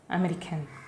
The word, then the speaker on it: américaine: Américain, américaine. And the N should be pronounced. Listen to it. Américain, américaine. In female form, N should be pronounced with much stress.